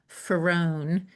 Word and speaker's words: Farone: And it's with an H at the end, Farone, like far one.